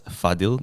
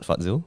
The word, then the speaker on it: Fadzil: androtomy before the podcast your name is pronounced as fadil not farzil that's right which coincidentally